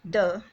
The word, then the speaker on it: the: जो वर्ड है THE द, इसकी प्रोनाउंसिएशन दो तरह से होती है. नंबर 1 द, जो हिंदी का द साउंड होता है, उसमें अगर किसी भी कंसोनेंट साउंड वाले वर्ड से पहले हमें द लगाना हो तो हम प्रोनाउंसिएशन इसकी द करेंगे. और दूसरा इसका जो है प्रोनाउंसिएशन का टाइप वो है डी.